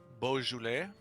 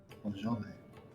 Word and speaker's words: Beaujolais: Beaujolais. Beaujolais. Beaujolais.